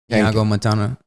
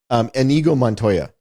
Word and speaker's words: Inigo Montoya: Iago Montana. What is it? Mandy Patinkin. Inigo Montoya.